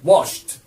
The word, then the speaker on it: washed: يبقى the dishes were washed. Were washed. التصريف الثاني بتاع كلمة washed هي washed برضو. وافتكر ان كلمة wash لما بتحط لها الايدي تتنطق تي. Washed.